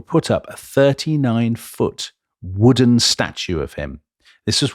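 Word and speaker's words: Łódź: I think Lods is how you pronounce it, don't I? I think not, Tom. Wood.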